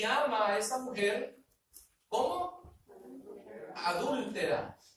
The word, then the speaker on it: adúltera: Adúltera. Tiene acento en la U, adúltera.